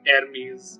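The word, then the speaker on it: Hermès: I'm sorry if I butchered it. No, that's how you pronounce it. So, Okay. they have weird pronunciation, I must agree, but then you need to value the way that they are pronouncing it.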